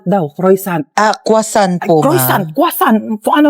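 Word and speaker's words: croissant: Croyant daw. Croisant. Ah kwasant po.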